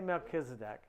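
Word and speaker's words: Melchizedek: this whole thing but there's another king named melchisedek that's how I say it I'm not sure how it's really pronounced in in in Judaism how's this pronounced Verse 18 in Spanish oh we say melkisedek he's the king of Salem which is the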